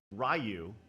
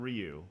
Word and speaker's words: Ryu: on the list sagot uh rayu not Ryu right right well are you talking about old school pronunciation or the actual pronunciation old school right like in street I I grew up rayu I was exact reprimanded harshly one day and like when the internet came into play it's like you're a bad person for saying that cuz that's not how you say it because kids grow up